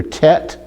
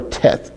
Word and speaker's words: Teth: So it means it's pronounced either Tet or Teth, okay?